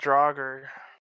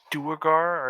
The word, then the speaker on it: Duergar: No, It's not Draugr. you agree. What is a Duger? Never. It might be Dwarf. pronounced Duergar or something like that. It's a type of Oh! dwarf. Pronounced Duugar.